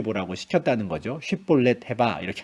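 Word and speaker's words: שיבולת: 정말 길라 사람인지 확인을 하기 위해서이 단어를 한번 발음해 보라고 시켰다는 거죠 쉽볼렛 해봐 이렇게 한 겁니다 그 당시에도 이미 사투리가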